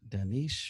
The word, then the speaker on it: Dinesh: The harvesting, the mail-in, And it's Dinesh, or fraudulent. how do I say his name? Danish, or the Indian guy.